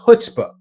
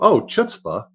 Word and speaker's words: chutzpah: Some people drop the c right from the front, and they go straight to chutzpah.